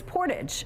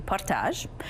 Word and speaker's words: Portage: Dave shared the mispronounced word he can't stand is portage, a French word which is anglicized. It should be partage.